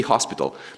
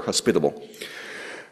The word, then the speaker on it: hospitable: time with this because I always said be hospital. But I was corrected, that was not quite the right way to say it. You know, we're not hospitals, we're hospitable.